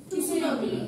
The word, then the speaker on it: tsunami: p in pneumonia pneumonia তারপর মানে সুনামি আছে tsunami you are making a mistake in pronunciation regardless of how precisely you articulate the